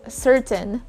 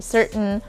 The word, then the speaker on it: certain: silent t in words just like in the word certain well you can both say certain or certain but it's faster if you say certain and you do sound